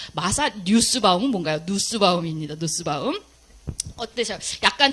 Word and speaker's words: 누스바움: 제가 오타를 냈는데 뉴스바움이 아니라 보통 누스바움이라고 읽습니다. 마사 뉴스바움은 뭔가요? 누스바움입니다. 누스바움.